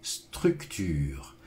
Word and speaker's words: structure: Mais parfois, c'est vrai que c'est difficile parce qu'on a le U français, qui n'est pas toujours simple.